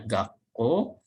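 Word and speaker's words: 学校: Jadi ini sekolah, dibacanya gakkou. Jadi penulisannya ada su kecil. Ini ya, gakkou.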